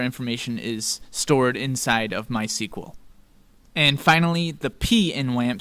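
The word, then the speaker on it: MySQL: M letter which stands for my SQL or my sequel as it's pronounced my sequel is a freely available open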